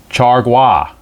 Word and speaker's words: Chargois: And then they have, and I checked the pronunciation on this, Chargois is one of the relievers, a righty.